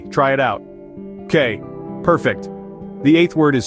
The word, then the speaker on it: que: It's pronounced K. Try it out. K.